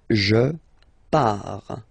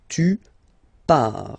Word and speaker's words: pars: So the first form is je pars. So final S not pronounced, je pars. Tu pars, same form, you can see here and here. So final S not pronounced, tu pars.